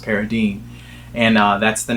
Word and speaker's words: Paradine: or the the paradine case I always always pronounced it paradig but then when I watch the movie I realized it's actually pronounced paradine and uh that's the name of the main